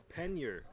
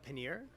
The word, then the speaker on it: pannier: pronounce this word well i'm an american so i'm going to say pannier pennier some would say paneer others might say pennier choose your uh choose